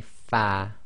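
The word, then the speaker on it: ف: pronounce the letter fa your Upper Front Teeth should touch the inner wet portion of your bottom lip so say far far the next three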